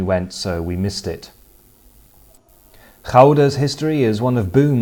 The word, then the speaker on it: Gouda: name known to cheese lovers the world over, Gouda. And in case you're wondering, yes, that is how it should be pronounced.